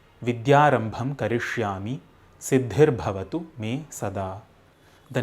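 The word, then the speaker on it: करिष्यामि: In the second line too, it is not Karishyami, it is Karishyami, which is a verb form.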